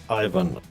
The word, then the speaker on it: Eivind: It's okay to Englishify the name, and I guess my first name would be pronounced like Ivan, as in Ivan the Terrible, just without the terrible, of course.